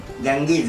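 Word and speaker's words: Ganges: गँगीज गंगा नदीला इंग्लिशमध्ये गँगीज असतात, त्याचा उच्चार होतो.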